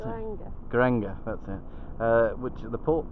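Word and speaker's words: Geiranger: in view in still don't know how to pronounce it. Garanga, that's it.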